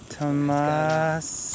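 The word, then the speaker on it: Tamás: Tamas. It's got an accent on the A, so it's Tama.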